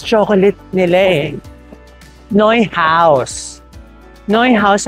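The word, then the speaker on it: Neuhaus: Noy house ang pagkaka-pronounce.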